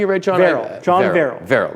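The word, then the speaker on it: Favreau: nineties now you ready all right oh and John virile am i pronouncing a read John Farrell John Farrell Farrell like Farrell but fair Morgan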